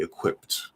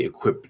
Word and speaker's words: equipped: written as a d it actually makes it into a t sound in the pronunciation so it'd be equipped equipped do not say equip that wouldn't be right um maybe if you're